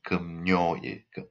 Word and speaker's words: 금요일: The pronunciation is 금요일, okay? 금요일. It has n sound, okay? N sound is added here.